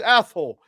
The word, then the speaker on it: Athol: Now that I say it with that in mind, it's Athol.